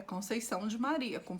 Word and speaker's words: Conceição: Então, quando eu vou para o México, para Cancún, eles me chamam de Conception. Concepción. Sim. Americanos, eles tentam e fica Conceição. Mas o meu nome não é pronunciado desse jeito.